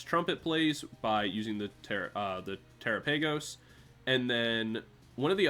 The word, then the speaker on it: Terapagos: Terapagos?